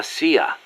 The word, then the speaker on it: CIA: here they say la Sia instead of CIA huh nothing strange about it that's how it's pronounced when you read it in Spanish it has the feminine